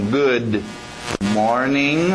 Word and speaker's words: good morning: Quando a gente vê dois consoantes se encontrando, como em good morning, o D e o M se encontrando, chocava. Good morning, então por isso que a gente engole o D.